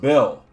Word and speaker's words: Beal: Oh, it's pronounced Bill.